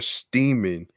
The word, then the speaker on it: Steeman: this case um tamara steeman rhymes with seaman brought a complaint of